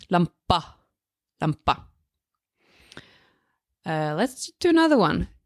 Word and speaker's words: lampa: Lampa, lampa. That's how you pronounce the letter A in Norwegian. Same thing you say when you're at the dentist.